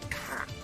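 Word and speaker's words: Ka: this unusual looking thing rejoices under the equally bonkers name of cat the ancient egyptian word for soul although it's often instead pronounced just like someone from boston would say the word car wicked cow is that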